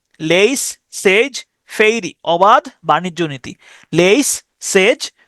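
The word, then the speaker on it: laissez-faire: আর ই ফেইরে fairy উচ্চারণ করতে পারেন লেইস সেজ সেজ ফেইরি লেইস সেজ ফেইরি অবাদ বাণিজ্য নীতি লেইস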